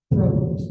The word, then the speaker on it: propolis: Bees make this stuff called propolis. Most people call it propolis, but technical right way to say it is propolis.